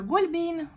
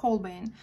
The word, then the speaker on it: Holbein: На русский язык, если перевести, то это Гольбейн, как наши многие блогеры произносят. А американцы и другие иностранные блогеры, я лично слышала в их роликах Holbein.